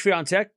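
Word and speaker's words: Świątek: It goes long, and Swiatek survives. Back to deuce. All right. Swiatek back to deuce. Why do you pronounce it as Swiatek?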